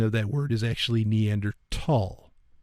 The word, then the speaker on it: Neanderthal: neander it's not actually Neanderthal uh the pronunciation of that word is actually neander tall it's th but it's neander tall it's it's like a